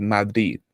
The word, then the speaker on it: Madrid: And if I may as well, I noticed Daniel earlier, he said Madrid, as if like the second D is silent, right? Is the second Yeah, D silent? Madrid. Madrid. Madrid.